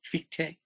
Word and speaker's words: Fichte: Fichte? I don't know yes, whether... Yes, because in German you say, for example, von Schelling and Fichte, you say all the, yes, also the last vocal.